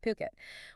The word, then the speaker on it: Phuket: And remember, that's pronounced Phuket.